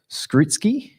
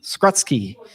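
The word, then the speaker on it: Skrutskie: wrong but i'll try skritsky oh skrutzky mike skratsky there we go and anne verbiska verbosher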